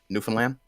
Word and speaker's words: Newfoundland: involvement versus Newfoundland involvement tried to get all the uh the syllables in there you don't actually have to worry too much about getting all the syllables because the way that we speak we kind of tend to run it together so it's actually Newfoundland and that's fine hey I I I